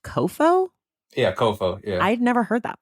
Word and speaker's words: COFO: And then, is it pronounced COFO? Yeah, COFO.